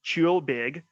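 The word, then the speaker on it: ceòl beag: so this is the musical style and it's pronounced chill big and it translates from gaelic to light music and so and the instruments used it is a single uh bagpiper who will usually play this so cheelbeg is a traditional the traditional form of music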